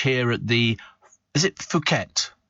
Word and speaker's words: Phuket: Is it Phuket? It's pronounced Phuket.